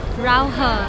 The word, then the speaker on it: Raohe: Bigkasin mo nga love, Rauhe. Rauhe Night Market. Rauhe. Ito talaga, ginagaya yung mga Chinese magsalita. Ganun yung naririnig ko eh, di ganun dapat natin bigkasin.